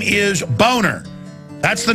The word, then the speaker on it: Boehner: Yeah, well, no, the name is German. It's a nice name. It's pronounced Boner, and his whole life he even had an ad campaign saying it's Boehner, not Boner.